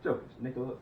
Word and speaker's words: Jokic: Jokic. Nikola Jokic, right? It's Jokic. It's Jokic? Yes. Oh, it's because we call him Joker. It's because we call him the Joker. That's why I do that. Yeah. Jokic, my bad.